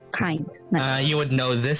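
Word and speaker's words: Cains: to you soul is that he just says kinds no last name since you already know about the Grove pain but with an s c-a-i-n-s Bible team yeah like like uh came from the Bible it's pronounced kinds uh you would know this Soul now since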